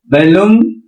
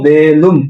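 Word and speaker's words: belum: হয়েছে, বেলুম মাকান লাগি, এটা উচ্চারণ হলো বেলুম, কিন্তু আপনি বলেন কি বলুম, বলুম, উচ্চারণ কি হবে বলুম, বলুম, বলুম, বলুম মাকান লাগি মানে এখনো খাই নাই।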